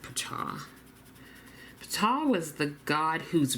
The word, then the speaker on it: Ptah: I actually thought it would be pronounced Ta. So let me know if you know of another pronunciation, but several places pronounced it Ptah.